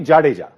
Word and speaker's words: Jadeja: Chia yeah I think it's not that excited oh no no no but for overseas commented Jadeja is the most difficult word to pronounce but it's actually jaja jaja correct correct it's easy and